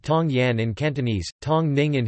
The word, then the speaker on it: 唐人: Teochew, refer to themselves as Tang Ren, Tangren, pronounced Tong Yan in Cantonese, Tong Ning in Huchu, Tian, Jilang in Hokkien, and Tong Nyin in Hakka.